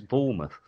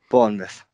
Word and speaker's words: Bournemouth: I quite like that pronunciation. It's Bournemouth. Bournemouth.